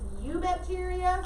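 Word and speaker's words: Eubacteria: their kingdom name it's you bacteria the e is silent so i'm sorry spell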